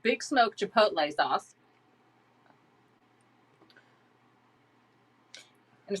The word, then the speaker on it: chipotle: well that's you know in england we pronounce how we used to when i lived there pronounce it chipotle because that's what it looked like but really it's chipotle i mean and even